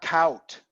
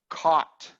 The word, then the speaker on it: caught: It's not count. It's caught. Caught. Caught. Caught. Ah, caught. Caught. Good. Excellent. Perfect. The way Edwin finally got caught. It's almost the same vowel as got. Slightly different. Got caught. Got caught. Got caught. But not cout. You want to say that you because you're Spanish, and that's a diphthong in Spanish, but no, got caught.